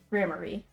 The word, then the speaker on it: Gramarye: Okay, so it is pronounced Grammary.